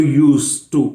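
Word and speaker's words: used to: और this D is dropped, so यूज टू।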